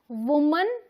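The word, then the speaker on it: women: एंड विमेन, वुमन एंड विमेन, इसे हम विमेन पढ़ेंगे, इसे हम वुमन पढ़ेंगे। यहाँ WO को वू बोलेंगे, यहाँ WO को वी बोलेंगे। ये प्रोनाउंसिएशन आपको ध्यान में रखनी होगी, ठीक है।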